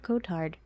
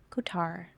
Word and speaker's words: Kotard: Oh, the final D is silent because the name has French origins. Oh, Kotar.